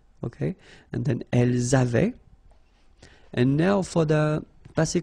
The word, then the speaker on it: avaient: don't pronounce it, or we don't pronounce this E-N-T, so we get avait, okay, phonetically, ils avaient, okay, and then elles avaient.